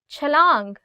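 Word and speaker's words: چھلانگ: Chalang, jump. Chalang. Again in this word, it's ch.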